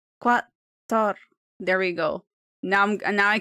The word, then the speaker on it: Qatar: But Ali sent me a voice message showing me how to pronounce Qatar. Qatar. Let's see what it says. Qatar.